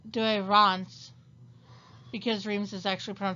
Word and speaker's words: Douay-Rheims: modern english i say dreams yes the douay-rheims it would actually be pronounced do iran's because dreams is actually from france to rhyme with france of course the new